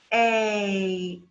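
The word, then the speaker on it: eight: You have E-I-G-H is an A sound. So you say A, 8.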